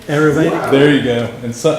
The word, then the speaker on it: Ayurvedic: I couldn't pronounce it. So you're on to me. It's Ayurvedic. Ayurvedic.